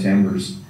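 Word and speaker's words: timbre: find a lot of tambers um tonal colors uh to to not leave anybody with an mu tamber it's spelled t m b r and it's the uh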